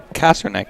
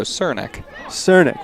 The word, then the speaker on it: Cernick: Yeah, that was Julia Kasternik? Yeah, that sounds about right. Kasternik. If we mispronounce that, I do apologize. Indeed. She's a senior out of Stowe. Oh, Cernick. My bad.